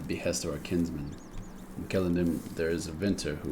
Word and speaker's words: Celondim: I think I was pronouncing it Celondim in my last episode, but I'm actually quite sure it's Celondim.